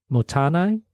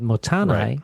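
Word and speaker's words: Mottainai: my group does is uh um I gotta pronounce this m motan m o TT a i n a i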